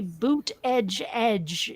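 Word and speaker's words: Buttigieg: know who he is you always see boot Edge Edge on his t-shirts to tell you how to pronounce it buot jge yeah I jge gotta run yeah that's why I say booty judge but um I gotta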